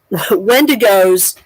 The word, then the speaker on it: wendigo: is that wendigos which is how you actually pronounce it wendigos um and Skin Walkers are are both supposedly